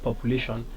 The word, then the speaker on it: population: So the syllable before the suffix shun is stressed, and as we rightly said in this word population, that is the second to the last syllable or the third syllable, lay. So the correct answer is C, population.